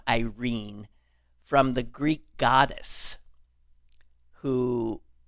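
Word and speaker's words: Eirene: His name was Vincent Irene. And I'm assuming that's how he pronounced it. I have to say I don't know that I've heard it. Spelled E I R E N E.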